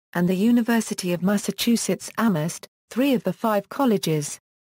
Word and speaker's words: Amherst: The town is home to Amherst College, Hampshire College, and the University of Massachusetts Amherst, three of the five colleges. The name of the town is pronounced without the H, giving rise to the